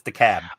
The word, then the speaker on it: DeKalb: Well, I live in DeKalb County, as you spell it, but it's DeKalb. They just dropped the L.